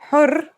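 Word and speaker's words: حر: For example, here are 2 words that have the same letters but are pronounced differently and have different meanings because of the difference in voweling. Har means hot, while hur means free.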